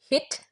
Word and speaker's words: hit: That can be written as hit, softly pronounced H.